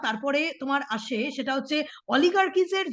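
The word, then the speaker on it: oligarchies: এই টার্মটা এই টার্মটা খুব উল্লেখযোগ্য অলিগার্কিস এই উচ্চারণটা এইরকম হবে অলিগার্কিস লিখে নেবে ও এল আই জি এ আর সি এইচ আই এস সি এইচ আই ই এস অলিগার্কিস অলিগারিস মানে জানো যে যীশু খ্রিস্টের জন্মের প্রায়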